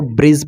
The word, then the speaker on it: bridge: जैसे BRIDGE, तो यहाँ पर देखिए जी से पहले डी आया है तो यहाँ पर डी को साइलेंट रखेंगे, तो यहाँ पर इसको ब्रिज पढ़ेंगे, BRIDGE, तो इसको ब्रिज पढ़ेंगे।